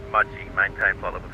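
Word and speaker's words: Mudgee: GTP pronounced Mudgy.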